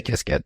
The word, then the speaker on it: Qiskit: And inside IBM, what's the preferred pronunciation there? Really, you find both. I say Qiskit, so we can stick with that one for today.